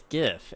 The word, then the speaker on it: GIF: wrong is the thing it's GIF it it always has been and always will be when the G is when the G stands for a hard G then it needs to